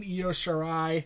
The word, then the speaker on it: Io Shirai: And sure enough, that match was Kairi Sane, Io Shirai, I finally got to pronounce that right, Bianca Belair, and Shayna Baszler for the NXT Women's Championship.